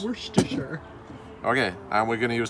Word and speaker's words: Worcestershire: like that we say you say worchestershire yeah it's worcestershire worcestershire sauce worcestershire okay and we're gonna